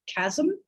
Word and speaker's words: chasm: Think of the word chasm. There's no vowel in that second syllable. There's just a peak, because what you've got is a really resonant consonant at the end, right?